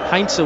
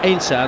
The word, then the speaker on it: Heinze: should be known as obviously a german extraction heinzer would be his name but in argentina they call him ainsa and they don't really pronounce the h and that's straight from